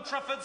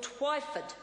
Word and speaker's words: Twyford: I rise to correct the Minister's pronunciation of Phil Twyford, not Trifford.